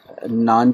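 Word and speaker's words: 难: जिस तरह हम उर्दू में ये नान चने वाले जो नान होते हैं सिंपल, वैसा इसका प्रोनाउंसिएशन है।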